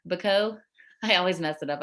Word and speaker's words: Bacot: Bacot? I always mess it up, I feel like. It's okay. It's you actually are pronouncing it in the French way properly without the T.